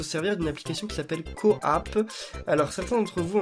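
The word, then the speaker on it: QooApp: il faut se servir d'une application qui s'appelle Coapp. Alors certains d'entre vous en ont déjà parlé dans les commentaires, moi je sais pas comment ça marche parce que j'ai pas d'Android. Ça s'appelle Coapp, ça s'écrit Q-O-O App, donc A2P je crois,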